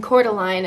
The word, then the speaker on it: Coeur d'Alene: you should stop here she kept saying cordeline and i was like trying to spell it and it wasn't coming up and then i realized it was french but apparently it's really